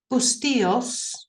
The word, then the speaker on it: Bustillos: name again Melody well it depends if you're pronouncing an English or Spanish way it's bustillos in Spanish because of the Double L is a y sound oh right obviously lost